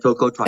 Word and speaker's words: tocotrienol: Would you say that the tocotrienol, am I saying it right? Tocotrienol? Yeah, tocotrienol, Okay.